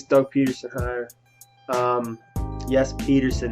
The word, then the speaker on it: Pederson: to like this Doug Peterson higher um yes Peter said not Patterson sorry everyone who commented wrote me on Twitter